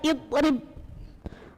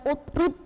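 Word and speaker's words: اضرب: rnya harakatnya kas kasr maka dibaca idrib contoh ayatnyaidb ha ya jadi bacanya Rib bukan utrib atau atrib tapiri iftah huruf ketiganya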